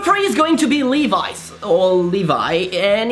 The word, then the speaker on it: Levi's: Levi's, or Levi, and it's pronounced Levis. And we are right and you are wrong. Why so? Because the man who made this brand was a German called Levi Strauss. So Levi Strauss, Levis, and that's what's working. So it's Levis and not Levi's.